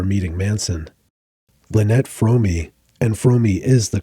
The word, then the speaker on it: Fromme: Lynette Fromme, and Fromme is the correct pronunciation, according to Lynette herself, had been kicked